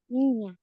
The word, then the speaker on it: niña: Niña. Nha. Isso, nha. Ninha. Ninho e ninha são crianças, tá?